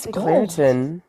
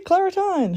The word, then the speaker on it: Claritin: It's Claritin. Well, we say Claritine. I don't like it. Tine. There's no E at the end of that.